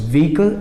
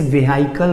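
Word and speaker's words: vehicle: सो व्हीकल एंड कार, इसे वेहिकल बोलते हैं या पता नहीं कैसे कैसे इसको प्रोनाउंस करते हैं, बट the correct pronunciation of this word is व्हीकल, right.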